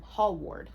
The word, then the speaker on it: Hallward: lord henry and basil hellwood hell ward um hall ward hallward hallward that's a hard last name to pronounce hall ward h-a-l-l-w-a-r-d huge deal